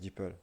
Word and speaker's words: DeepL: Enfin, moi je prononce DeepL. Après, je pense que chaque pays prononce différemment.